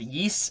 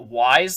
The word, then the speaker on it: Ys: because I mentioned that it's called Yeast and not Wise like he says, there are comments and especially multiple sources on the internet that I could back up that he got the pronunciation of the game wrong. I mean, if you'd think a sponsor would care about their product being promoted correctly, that they would give him the proper pronunciation of the game. Like, it's not pronounced Wise.